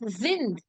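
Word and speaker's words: sind: you can see here what is the pronunciation for this is then very good so it is zinned so weird that is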